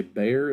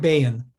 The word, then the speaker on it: Bayan: I think you say Bayer. Is that how you pronounce his last name? Craig Bayan. Bayan. Okay, I put an R instead of an N there.